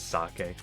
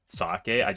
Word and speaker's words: sake: Kay I say uh whenever I read the word sake I always just pronounce it as sake yeah I did get the rare enemy twice already in this floor fascinating it's not because I don't know that it's sock I or that sake or